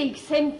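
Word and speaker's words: Hixem: A la muerte de Ixen III se escribe H-I-X-E-M.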